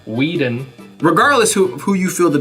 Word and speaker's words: Whedon: I'm gonna keep Wheaton. Well, you're wrong. Wheaton. That's Josh a D, not a T. Wheaton. It's a Whedon.